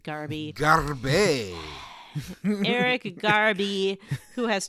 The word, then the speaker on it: Garbe: Bailey, Garby. Greg. Oh, right, Garby.